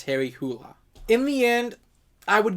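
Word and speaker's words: Harry Hole: I've even read the Harry Hula detective series. I think that's how you actually pronounce his name. Although the author says he doesn't care if you pronounce it whole, but I believe the actual pronunciation of that is Harry Hula.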